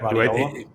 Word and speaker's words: Guardiola: Guardiola.